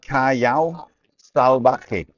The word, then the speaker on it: Callao Salvaje: It's Callao Salvaje. It's Callao, so it's K, and then double L is a Y, and then AO, Callao,